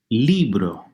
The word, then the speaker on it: libro: Hear what the stressed syllable is? Libro, second to last.